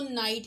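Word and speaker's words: knight: है उसको देखें तो इसका जो पहला लेटर है वो के है, लेकिन यहाँ पे क्योंकि के जो है वो साइलेंट है तो इस वजह से जो साउंड प्रोड्यूस हो रही है वो नाइट है, ना साउंड है, जो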